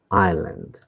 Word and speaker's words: island: Island. Now how many of you can pronounce this right? It's I l a n d. Island.